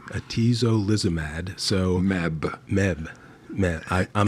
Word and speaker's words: atezolizumab: Okay, so that brings us up to this new drug, which is hard to pronounce. How do you say it? Atezolizumab. Atezolizumab.